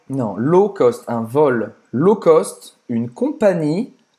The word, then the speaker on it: low cost: Então, low cost, não vai pronunciar esse W. Non, low cost, un vol low cost, une compagnie low cost.